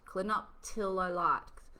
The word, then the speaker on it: clinoptilolite: does it work natural i've got to pronounce this right clinoptolo clinoptolo light clinoptilolite natural clinoptilolite zeolite is an